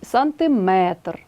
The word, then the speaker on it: сантиметр: 70 80 друге правило одиниці виміру довжини мають наголос на останньому складі кілометр а не кілометр міліметр сантиметр третє правило віддієслівні іменники на